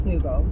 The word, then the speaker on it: Nouveau: It's also Beaujolais Nouveau, which is, I probably said it wrong, Nouveau. It's Nouveau, Beaujolais Nouveau.